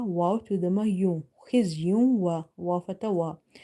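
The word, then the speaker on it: خِزْيٌ: Kha is heavy first of all here. Then after to the ma you see letter waw which is from your maloon letters, so you have to do idgham with the gunna.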